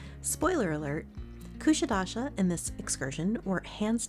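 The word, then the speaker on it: Kuşadası: We learned on this trip that the name of our port stop is pronounced Kusadasi, not Kusadasi.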